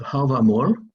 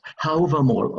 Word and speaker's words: Hávamál: you read the translations of some part of Hávamál, sorry, I pronounce Hávamál, okay?